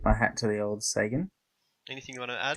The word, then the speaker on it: Sagan: Sagan. Is that it? Sagan. Yeah, that's right.